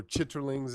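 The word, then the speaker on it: chitterlings: so like things like chitlings or chitlings as they're properly pronounced yep we got of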